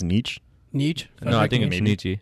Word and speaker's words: Nietzsche: Is that the right pronunciation? I think it's Nietzsche. Nietzsche.